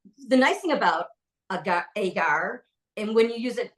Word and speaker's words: agar: using something called AAR now some folks prounce it agar some folks pronounce it AAR Linda and I finally went back and forth and we settled on the pronunciation of AAR so what is it